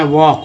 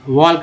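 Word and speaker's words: walk: अब देखिए एल के यहाँ पर क्या बोलते हैं, वॉक, वॉक मीन्स क्या होता है, वॉक मीन्स टहलना, वॉल्क नहीं पढ़ेंगे।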